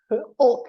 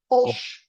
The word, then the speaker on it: Olch: Olk, did I pronounce that Olch. correct? Olch. Olch. Olch. Like it's like a TCH, Olch. No, CH.